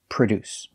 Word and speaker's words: produce: We put the stress on the second syllable. Produce. Produce. The first syllable is pronounced with the relaxed sound, like cup and up. Pr. produce.